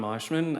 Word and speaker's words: Moshman: My name is Moshman. I represent the appelles in this case. Catholic I'm sorry. I I I got bad intel on that so I've been mis mispronouncing it.